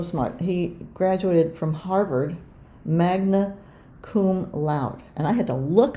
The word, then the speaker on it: magna cum laude: He graduated from Harvard, magna cum laude. And I had to look up how to pronounce that, and I believe I did it right.